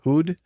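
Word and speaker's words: Houd: Hud? How do you pronounce his name? H O U D. Hood.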